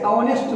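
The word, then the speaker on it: honest: ऑनेस्ट मैन लिखना है, इसलिए कि उसका उच्चारण एच का जो उच्चारण असल उच्चारण जो है वह ह होता है, लेकिन ह साइलेंट है और उसके बदले में उसका उच्चारण अ होता है, इसलिए लिखा जाता है एन ऑनेस्ट मैन।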